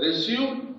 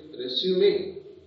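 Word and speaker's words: résumé: But don't say, in the meaning of biodata, the word resume, it's wrong pronunciation. So you have to hereafter say, resume.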